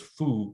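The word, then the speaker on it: 蝠: The word for bat in Mandarin is fu, F-U. There's a totally different word, different character, but pronounced the same way.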